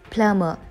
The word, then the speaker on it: plumber: its correct pronunciation is plummer the letter b is silent here the next sentence is